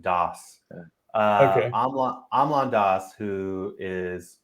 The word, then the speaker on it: Das: DOS. Yeah, Okay. like DAHS. That's how you would pronounce it, DOS.